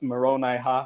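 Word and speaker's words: Moronihah: No, they have corrupted the reformed Egyptian and just The totally reformed Egyptian that mispronounced they made up. Right. Yes, They left got it. off 2 ha's. It's Moroni ha ha ha.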